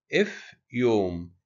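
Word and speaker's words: ⲫⲓⲟⲙ: عندنا مثال زي كلمة افيوم. افيوم اللي هو البحر. افيوم اللي هو البحر. يبقى حرف الفي بننطقه ف زي كلمة افيوم بحر.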